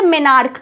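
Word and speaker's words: menarche: उसको पीरियड्स आता है उसको हम बोलते हैं मिनार्क क्या बोलते हैं मिनार्क उसकी स्पेलिंग क्या है एम ई एन ए आर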